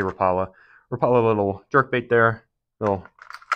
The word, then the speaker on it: Rapala: I believe it's a Rapala Rapala Rapa I know people pronounce it different ways but I say rala rala little jerk bait there